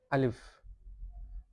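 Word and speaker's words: ألف: তো শুরুতে যে হরফটি দেখতে পাচ্ছেন এটির নাম হচ্ছে আলিফ।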